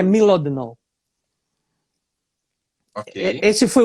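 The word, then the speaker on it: Mlodinow: Livros, Subliminar, do Landon, eu chamo de Modlinov, mas eu já ouvi a Inês falar, eu acredito que pode ser a pronúncia certa, que é Milodinov.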